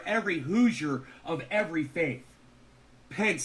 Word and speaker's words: Pence: It rhymes with fence. Mike Pence.